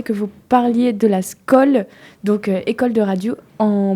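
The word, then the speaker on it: skol: Donc les deux se valent et la scool s'écrit s k o l pour les gens qui se disent mais comment je peux c'est facile faut penser à comment on dit à la tienne en norvégien et puis voilà c'est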